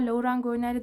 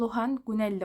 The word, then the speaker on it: Laurent Gounelle: kitabı var gördüğünüz gibi her ne kadar lauran gelli desem de bu Fransız bir yazar olduğu için muhtemelen doğru telaffuzunun Lohan guneli olduğunu düşünüyorum Bir ara bakmıştım öyle